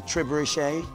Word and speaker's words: trebuchet: It's a trebuchet.